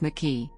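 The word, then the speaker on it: MIQE: quantitative real-time PCR experiments micki pronounced mckee guidelines have been published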